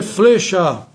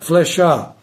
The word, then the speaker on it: flechar: Flechar não se deve dizer flechar, não é correto. O correto é flechar, ou seja, com e aberto.